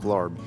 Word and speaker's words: larb: Elk larb with the stomach. That's what we're feasting on tonight. Pho and elk larb, or elk la, however you want to pronounce it.